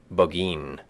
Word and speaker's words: Burgoyne: a famous fox hound named burgoyne he pronounced it bogeyin which my informant used